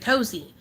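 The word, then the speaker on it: Kozeo: wants that name cos k-o-z-e-o and she pronounces it cozy but Kaelyn never uh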